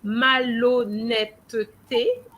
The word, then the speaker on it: malhonnêteté: So here it's really malhonnêteté, but because when you look at the te, there's no accent. You remember that when there's no accent, it means that the E is silent. So we're not going to pronounce that syllable. We're just going to say la malhonnêteté.